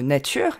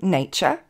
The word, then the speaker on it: nature: Ces terminaisons en URE, qu'on trouve par exemple dans le mot nature, nature, vont tout simplement se prononcer E, comme le E français.